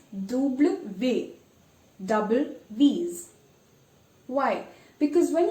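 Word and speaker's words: double vé: now this is interesting in english it's called double u break it double you because it has two u's it looks like two u's but in french it's double v double these why because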